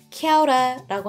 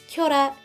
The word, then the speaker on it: Kia ora: 의미로도 켜라 이렇게 쓰입니다 참고로 발음은 두가지가 있어요 케어 라라고 하는 사람이 있고요 켜라 이렇게 하는 사람인데 둘의 차이는 전혀 없고요 그냥 그냥 기분에 따라